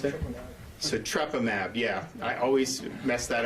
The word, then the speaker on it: Sotrovimab: How do you pronounce it? Sotrovimab. Yeah, I always mess that up. So Sotrovimab was given EUA, I believe, in May.